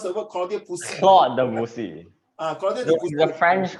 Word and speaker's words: Claude Debussy: You purposely want me to pronounce the word Claudio Pussy. Claude Debussy.